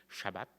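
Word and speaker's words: שבת: Premièrement, le sabbat, c'est appelé sabbat, ou en fait, il y en a qui aiment bien la prononciation hébraïque, ce serait Shabbat, mais moi, je vais rester avec la prononciation française.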